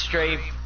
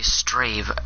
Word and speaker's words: Strave: Go do Strave, or I'm gonna put it in the comments. Strave raid. Strave. Okay, Strave.